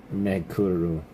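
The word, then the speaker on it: メェークル: Uh, yeah, it's pronounced Meuru. Uh, cry of a goat plus a vehicle kind of I think. Interesting. Pronounced meuru. Meukuru.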